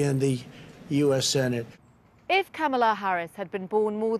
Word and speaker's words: Kamala: a politician of substance camella it's not kamala it's not camella but she still had to teach the country how to say her name i'm kamala harris and she was